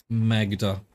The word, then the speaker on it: Magda: It definitely pronounces the G then. Maga, huh? Magda.